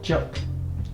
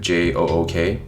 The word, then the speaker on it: 粥: Yeah, so in Cantonese we call it juk. Yeah, I guess phonetically you could do it Jook.